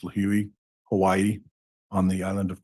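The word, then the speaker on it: Lihue: And those purchases were made on March 13th, and they were round trip from Phoenix to LIH, which is, I believe it's pronounced Lahui, Hawaii, on the island of Kauai.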